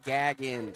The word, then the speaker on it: Gaggin: a comment here that says it's pronounced Gaggin. Gagans. See, and I'm sorry about that. I was trying not to mispronounce it just so I didn't get in trouble. But Gaggin that's how they want it.